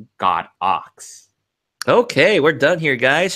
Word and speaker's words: Godox: the way fun fact it's not go docks it's actually pronounced God ox okay we're done here